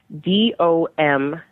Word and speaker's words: Domme: DOM generally refers to a male dominant. DOMME refers to a female dominant. Wow. They're pronounced the same. A lot of people will pronounce them differently, but they're pronounced the same. They're just spelled differently.